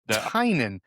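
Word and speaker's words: Tynion: So Tinen so the I is silent. The eye is silent. It's James Tinen.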